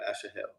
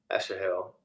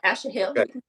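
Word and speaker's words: Asahel: him said again to Asha Asha Hill or what how do you say it yes yeah that's not Ashley Hill turn aside from following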